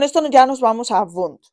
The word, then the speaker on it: Wundt: ya nos vamos a vun que no se dice wun por Dios esto es alemán no es inglés Vale entonces e la